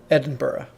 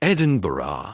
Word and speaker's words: Edinburgh: Edinburgh. Edinburgh. Edinburgh. And now they're coming out. So when you go to Edinburgh, you got 3 days in Edinburgh. It is pronounced as Edinburgh.